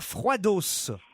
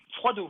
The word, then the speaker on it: Froidos: cette ville, est à Froidos. Froideau, on dit. Ah, on dit Froideau. Il y a un S à la fin, alors pardon. C'est où, ça? Je pensais qu'il fallait le prononcer.